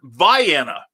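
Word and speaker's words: Vienna: where we pronounce c-a-i-r-o-k-row where we pronounce v-i-e-n-n-a like the sausages or the ultravox song um we they pronounce it viana you know so and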